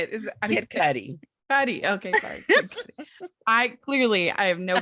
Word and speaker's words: Cudi: Cudi.